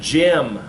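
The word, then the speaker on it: gem: is the same way now you have Jim like a stone a Jim I see there Jim I'm gonna say gimlet beginning no Jim you know and it's it sounds all the same Jim and Jim hey did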